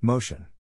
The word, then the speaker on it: motion: In this case, the accent is in the first syllable, corresponding to mo.